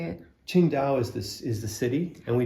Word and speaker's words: Qingdao: Qingdao is the city, and we did a couple